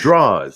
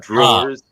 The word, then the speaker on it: drawers: And it's draws. Say it right. Draws, not drawers. You put draws in drawers.